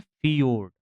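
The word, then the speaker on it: fjord: को मिल जाएगा ऐसे इसको बोला जाता है फियोर्ड तो यह फियोर्ड है याद रखना र्ड इसे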